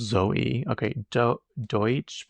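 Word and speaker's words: Deutch: Do Deutsch. Pronounced exactly like the word I don't know how to spell. Oh, okay. I was right. So, you pronounce it like D O Y T C. Zoe Deutsch.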